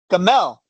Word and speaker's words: Gamell: Gamell. Either one works. But the point is that it rhymes with camel, okay?